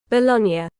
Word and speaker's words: Bologna: Bologna. Bologna. It's three syllables. Italian rhymes with lasagna.